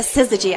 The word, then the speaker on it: Syzygy: I've got the pleasure of chatting with Kami Guildner with a Syzygy. I said it. You said it right.